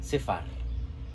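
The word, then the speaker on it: ספר: El segundo libro es el número, que se escribe exactamente igual, pero se pronuncia Sefar. ¿Por qué? Porque la Pei, que aquí funciona como Fei, se le agrega la A.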